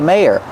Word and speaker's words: mayor: Use a long a like say and day. May your second syllable is the sound like burger. And we have to link these two sounds with y like in yes and yellow together.